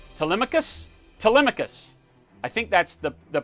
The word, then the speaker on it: Telemachus: actually pronounced Telemachus. Little known fact of the day, your name comes from Homer's Odyssey, and it actually pronounced Telemachus?